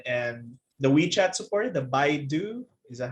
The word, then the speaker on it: Baidu: But eventually, companies like Alibaba, Amazon, and the WeChat support, the Baidu, is that how you say it? Like, how do you say it, Ritesh? The Alibaba competitors. Okay, the Baidu. Yeah, Baidu, they are acquiring warehouses.